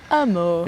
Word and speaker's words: Hameau: Amour. If you don't speak French, Hameau, Hamlet, I suppose, in English. Hamlet, that's right. But pronounced amour.